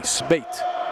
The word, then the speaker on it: Spate: I mean, I think my name, in my eyes, my last name is pretty easy to say, Spate.